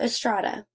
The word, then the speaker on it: Estrada: So therefore, when you combine both, therefore the Coke Est and Prada, the brand, rhymes with Estrada.